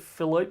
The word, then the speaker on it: Philippe: I want to say it's Philippe the Sixth, but I think I've got his name wrong. There you go. Spot on. Philippe, it is.